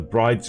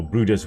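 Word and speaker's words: Bryde's: one other wh whale the brides whale or brudder's whale depending on how you want to pronounce that that is a also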